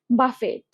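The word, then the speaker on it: buffet: এরকম আরেকটা আছে বাফেট। বাফেট আমরা বুফে বলে থাকি।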